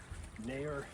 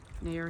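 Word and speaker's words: Nahor: mountain, but a pretty, It's Nair Hill. Nair Hill. Spelled like N-A-H-O-R, something like that.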